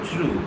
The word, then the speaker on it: through: होती है तब हम थ्रू लगाते हैं। लेकिन इस थ्रू की स्पेल क्या है, THROUGH, थ्रू। इसको हम प्रोनाउंस करेंगे थ्रू, इसको हम ये प्रोनाउंस नहीं करेंगे थ्रो।